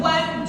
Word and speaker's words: won't: Così iniziamo già a pronunciarla bene. Coat, coat. No, don't, won't. I won't do that.